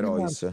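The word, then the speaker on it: Rois: Come Royce. Si scrive R O I S, Royce.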